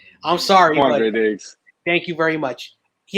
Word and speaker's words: Quandre Diggs: So first we're going to talk about, if I pronounce his name, you could correct me, Quindar Diggs. I hope I said that correctly. I'm sorry. Quandre Diggs.